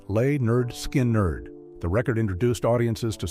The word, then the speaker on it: Lynyrd Skynyrd: Soon afterward, Lynyrd Skynyrd released their debut album, pronounced Lay-Nerd Skin-Nerd.